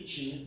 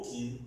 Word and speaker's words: Qin: Aí, em 221 a.C., o reino de Qin, ou Qin, certo? As duas pronúncias estão corretas.